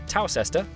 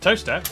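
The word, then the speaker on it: Towcester: would not have done that it's up to tower sister toaster then a quick jaunt to gotham goatum followed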